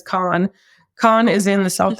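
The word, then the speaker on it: Cannes: it's in I guess the right proper way to say it is Khan Khan is in the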